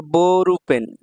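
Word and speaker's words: ボールペン: তারপর বোরু পেন, বোরুপেন, এই যে এখানে একটা টান আছে, এই জন্য সামনের বর্ণটাকে একটু টানতে হবে।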